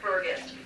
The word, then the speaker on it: Burgus: how to pronounce it I tell people it's gust like a gust of wind bur or gust and that's a good way to remember and get the pronunciation Eric's mom Carol is